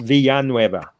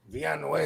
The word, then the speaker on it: Villanueva: His last name is pronounced Villanueva. Villanueva. So the two L's make a Y, bro.